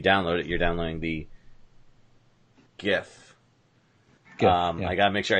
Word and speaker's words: GIF: it you're downloading the Giff um I gotta make sure I say it right I wasn't gonna pick yeah the guy who created the file format says jiff yeah well you know he's wrong not every creator is